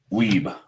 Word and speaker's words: Wiebe: And we are here with the distillery manager from Shelter Point, Wiebe. Wiebe, yes.